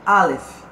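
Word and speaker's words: אלף: A pronúncia Aleph.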